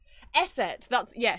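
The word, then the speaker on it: Eszett: Esset.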